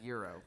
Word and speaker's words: gyro: It's I like- don't actually know if he's Is it stereotypical, pronounced but gyro or gyro? Euro, please, thank you.